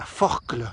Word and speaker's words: Forclaz: les col de la forclaz par exemple ça s'écrit à z et on prononce jamais le z est rarement le à